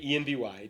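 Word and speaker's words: enby: Envy is the phonetic pronunciation of envy, which stands for non-binary.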